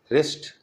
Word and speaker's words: wrist: In WR, W is silent, as in wrist, rest, wrinkle, wrong, wrath, ring.